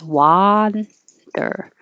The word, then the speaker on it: wander: Wonder is as in up. And wander is like hot. So this one is 2 syllables. This would be like wonder, and this is wander.